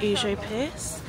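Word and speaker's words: Užupis: entering this independent republic which is pronounced oo Pierce which means literally behind the river there's all these like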